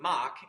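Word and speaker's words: Mach: mock Mark actually uh started out being called muck but there was a uh there was an Italian graduate student on the team who could not pronounce muck accurately so he's kept calling it Mock and which is a pretty Italian thing to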